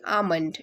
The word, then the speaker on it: almond: Almond is pronounced with IL as silent. See, almond. It's not almond. We call it as almond.